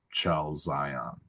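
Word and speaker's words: chalazion: It's pronounced chalzion. CHAL, maybe another letter to ZION.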